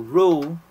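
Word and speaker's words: roux: So pronounce as r o. So row, ang example niya is a flower plus fat.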